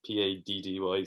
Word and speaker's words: Paddy: Patty's Day or St. Patrick's Day? Paddy's Day, but it's not patties like the Americans say. Like it's not patty, it's Paddy, so it's Paddy.